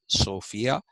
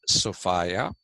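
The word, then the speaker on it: Sophia: sofa s o p h i a not pronounced sopia it is pronounced sopa and uh they worshiped so sofa Socrates also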